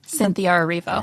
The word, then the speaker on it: Cynthia Erivo: Cynthia Erivo.